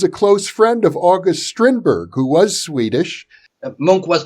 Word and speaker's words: Strindberg: And in the occult diary, I used Strindberg, which is how they pronounce his name here.